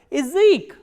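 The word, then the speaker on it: язык: The next type of reduction is this ya sound becomes e, like in word Ezek, Ezek. As you can listen, that ya here is not pronounced as ya, but e, Ezek. Why? Because this ya is in an unstressed position.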